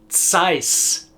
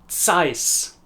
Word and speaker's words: Zeiss: It's the equivalent of pronouncing the TS at the end of all of those words, but leaving out the letters before them. Practice it. It's, that's, ts, ts, Zeiss, Carl Zeiss AG, Zeiss.